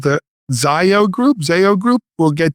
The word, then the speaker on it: Zayo: How do you pronounce it? It's Zayo Group. Zayo.